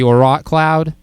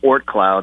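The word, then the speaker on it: Oort Cloud: And then I'm going to mispronounce this because I'm horrible at pronunciation, but the Orot Cloud. Oh, I think it's Ort Cloud. Ort Cloud. There you go.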